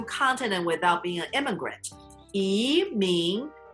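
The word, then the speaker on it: 移民: 移民, second tone. 移民.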